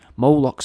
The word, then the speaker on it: Moloch: In some writings, Moloch's apparently represented as well by the spelling of Mlk, pronounced Moloch, spelt M-L-K, right, so that's Mlk,